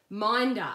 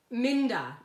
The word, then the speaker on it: Minda: Minda, okay, Minda, it rhymes with Linda, okay, Minda.